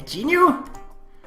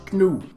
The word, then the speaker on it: gnu: A genu? The word's pronounced gnu, actually.